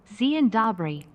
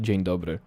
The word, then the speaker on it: Dzień dobry: For those of you that are interested, that should be pronounced Dzień dobry. But the bot doesn't know Polish letter.